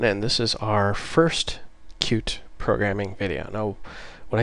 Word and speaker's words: Qt: It's called cute. It's spelled QT, but it's pronounced cute.